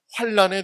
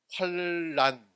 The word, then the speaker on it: 환난: 대해서 설명하고 있습니다 특히 환난에 대해서 하나님은 어떻게 공의로운 심판을 내리실 것인지 말하고 있습니다 제가 이제이 환란 환난 이것을 어떻게 발음해야 되는지 어제 사전을 찾아보고 환난으로 발음을 해야 된다고 하더라고요 그래서 환난으로 발하 환난